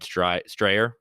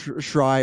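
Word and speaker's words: Jason Schreier: And thankfully, I think it was Jason Strayer, I believe. Schreier is how you Schreier, pronounce Jason it.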